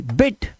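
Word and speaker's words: bit: अब देखो ब आई टी, बिट, इस तरह से तेज, बीट नहीं करना, बीट माने पीटना होता है, और बिट, बिट मतलब थोड़ा, ठीक है, इस तरह से इनको सही से प्रोनाउंस करना है, नहीं तो मायने बदल जाएंगे।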